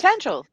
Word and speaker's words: Tangel: Pretty good, and I want to be sure I'm pronouncing the name correct, because is it Tangel? Yes. Tangel. Yeah. Tangel. Yay, I got it right.